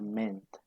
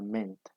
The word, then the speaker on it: meant: Listo, en presente se pronuncia mean y en participio se pronuncia meant. Listo, es el sonido de la A desaparece y se pronuncia meant.